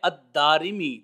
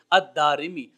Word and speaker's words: الدارمی: ہے دارمی کی طرف۔ تو اصل لفظ اور تلفظ جو ہے وہ ہے الدارمی، دال کے اوپر زبر، پھر الف، پھر را کے نیچے زیر اور میم کے نیچے زیر، الدارمی۔ اللہ رب العزت کی